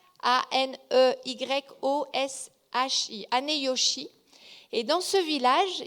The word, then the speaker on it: Aneyoshi: le village de alors je vais peut-être mal prononcer parce que c'est du japonais mais c'est ané aneyoshi aneyoshi a n e y o s h I aneyoshi et dans ce village il y a